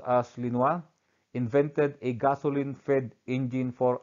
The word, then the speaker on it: Lenoir: And of course, further, we have Joseph Etienne Lenoir, pronounced as Lenoir, invented a gasoline-fed engine for automobiles, now known as the internal combustion engine.